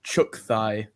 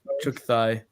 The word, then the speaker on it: Tchuukhai: It's spelled Tchuukhai, and it's pronounced Chukthai. Chukthai? Yeah, Chukthai. It's spelled really weird, but they're like almost extinct.